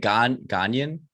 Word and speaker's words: Ghanaian: Ghanaian?